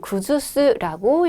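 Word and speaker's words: 崩す: 사람이다 이죠 시로 보겠습니다요 한자는 구주스라고 읽어요 여러분 구두쇠 하면 허물다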